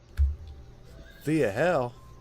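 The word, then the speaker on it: Thea Hail: here's the cheerleader girl Thea hell like a Hail Mary hail I know how to say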